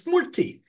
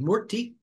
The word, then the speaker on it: murti: It's murti. We can learn, I think most of us in the West can learn a two-syllable word called murti.